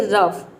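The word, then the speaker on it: rough: यहां पे एग्जांपल देखिए रफ यहां पे हम आर को र प्रोनाउंस करेंगे और ओ यू जी एच का हो जाएगा फ ये पूरा हो जाएगा रफ रफ मतलब होता है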